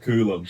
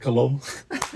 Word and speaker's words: Kulum: So, the place is called Kulum, but when I first turned up, I was calling it Colum. like Columbbo.